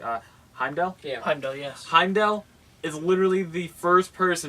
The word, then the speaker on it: Heimdall: me if I say his name right ah Heimdall yeah yes Heimdall is literally the first person